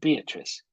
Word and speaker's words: Beatrice: but she knew this her name was indeed beatrice it had a certain flow three syllables and never just two thank you very much